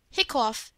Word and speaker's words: hiccough: Hiccough has the sound of cup.